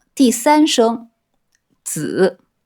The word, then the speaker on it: 子: Petit rappel : « Zi » se prononce ici sur le troisième ton, zǐ.